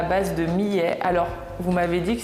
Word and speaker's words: millet: change c'est juste fou donc bref ça se prononce Millet d'accord je dirais hier